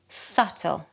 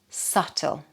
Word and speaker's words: subtle: Yes, we don't pronounce the B. Subtle. Subtle.